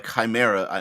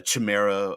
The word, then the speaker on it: chimera: the idea of a chimera I like I like pronouncing it Chimera instead of uh Chima or shimera I like the Chimera pronunciation of it that's just a personal